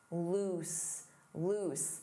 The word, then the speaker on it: loose: Notice that pronunciation. Oose, loose, loose.